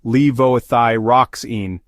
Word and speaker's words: levothyroxine: bleeding risk levoxine commonly known as Synthroid is pronounced levothyroxine it is used as a thyroid hormone replacement